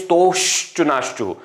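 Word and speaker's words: स्तोः श्चुना श्चुः: Actually here no, the pronunciation, correct pronunciation is stoshtunashchuhu. 2 times sha is required, but sometimes while listening you may think that visarga is not there. Therefore to emphasize I am changing the pronunciation and saying stoho shtunashchuhu. Okay? Actually it is stoshtunashchuhu. Visarga also will be pronounced as sha.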